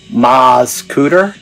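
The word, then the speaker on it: Mascoutah: on Interstate 64 in what the team over here at captech pronounces rural ma scoter for those of you who pronounce it otherwise the discovery of skeletal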